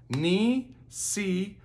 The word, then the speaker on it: Nisikasan: To do some actions, you can hit your knee, say ni si ka sun.